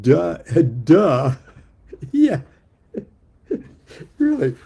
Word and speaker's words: Te: Uh Tay pronounced duh has also uh variously translated as integrity, virtue, character, honor, reason, best conduct.